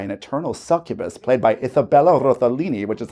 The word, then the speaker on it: Isabella Rossellini: for them by an eternal succubus played by Isabella Rossellini, which is how that's pronounced, named Liesel, hence the name Friends of Liesel.